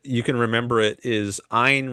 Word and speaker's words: Ein: Maybe I can rewrite another way that you can remember it is Ein rhymes with mine.